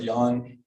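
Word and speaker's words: Jan: I hung out with Yan which he pronounced in the German or Czech way Yan was in a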